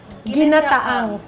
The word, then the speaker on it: Ginataang: Ginataang.